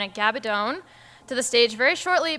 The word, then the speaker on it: Gabaldon: region tonight Deb will be talking with Diana gabadone and yes it is pronounced gabadone I have been working on it all day